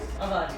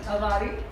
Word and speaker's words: Avari: Avari. Avari.